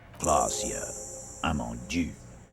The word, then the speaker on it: Klaasje Amandou: (Titus) - Says it correctly 'Klaasje Amandou' "Wait, that- that's how you say her name?"